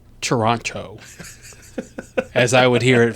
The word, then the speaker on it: Toronto: in there actually it's Toronto as I would hear it from every Canadian person I've ever talked to really yes I got everyone they were like it's Toronto you don't pronounce the second T I know Toronto hard